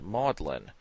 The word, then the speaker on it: Magdalen: in the united states in england the word is pronounced maudlin once maudlin adjective unpleasantly